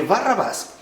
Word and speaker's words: Barrabás: Entonces, Barrabás, que nosotros pronunciamos de manera corrida, en realidad es Barrabá.